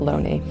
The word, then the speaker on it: Looney: His name spells Looney, but I believe it's correctly pronounced Loney.